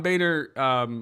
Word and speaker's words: Boehner: am actually correcting you the correct way John Boehner what did he call him the literal Antichrist